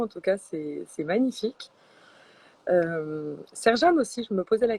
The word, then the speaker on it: Sercan: Ok, Serjane. Ah oui, ça s'écrit Sercan. Ok. Et ça se prononce Serjane.